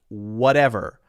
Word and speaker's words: whatever: So this particular word would be pronounced whatever.